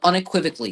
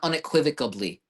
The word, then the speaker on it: unequivocally: It is spelled unequivocally, not unequivocably. But my dad is so convinced that it's unequivocably.